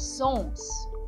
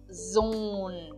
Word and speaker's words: Sohn: Então eu não digo son, mas sim zon.